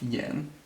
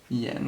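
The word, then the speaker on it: 言: a set right so this little part is pronounced yen oops sorry yen with the second tone and yen means simply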